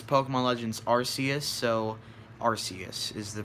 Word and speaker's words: Arceus: You don't say Arceus. It's Pokemon Legends Arceus, so Arceus is the correct way to pronounce it.